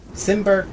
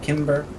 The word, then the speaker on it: Cimber: Cimber. Simber, Kimber, however you like to say it.